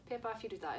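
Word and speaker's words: ペーパーフィルター: Pepa Filuta is actually the correct pronunciation of paper filter in Japanese.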